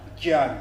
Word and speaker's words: Dyan: the life of a Dyan. Life of a Dyan. Yeah. Dyan. Dyan. Dyan. That's in Eastern Cape Town. No, but they say it with a J.